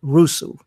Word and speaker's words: Rusu: So your book is called Asami, Children of Rusu. I'm hoping I'm Yes.